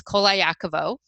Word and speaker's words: Koliakovo: And then Ko and Vo sound exactly the same as Edgar Allan Poe. So with all of that, that is really how my name is pronounced. So it's Koliakovo.